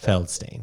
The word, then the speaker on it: Feldstein: Feldstein.